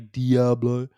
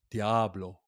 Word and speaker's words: Diablo: And I know I'm saying it wrong. It's apparently Diablo. Or really, it's technically Diablo.